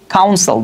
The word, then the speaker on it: counsel: কাউন্সিল, এটাও কি কাউন্সিল, দুইটার উচ্চারণ কিন্তু সেম, কাউন্সিল কাউন্সিল।